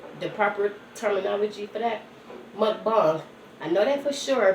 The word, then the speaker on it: mukbang: Like a lot of the mukbang, correction, the proper terminology for that, mukbang.